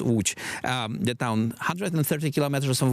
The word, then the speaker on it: Łódź: Let us say about the perspective of Łódź, the city that is called as Lodz in English. It is properly pronounced Łódź, the town 130 kilometers from Warsaw, and we are in the middle of implementing the strategy.